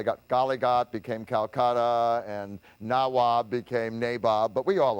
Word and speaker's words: Nawab: Now, the British couldn't pronounce Nawab, so they made it Nabob.